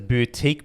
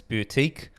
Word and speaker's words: BeoutQ: gonna pronounce it as boutique but it's spelt that beö utq so I'm guessing it's boutique or be out Q whatever you want to call it now they've been heavily